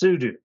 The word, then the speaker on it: sudo: come at me bro it is super user do so it's pronounced sudu this isn't a gif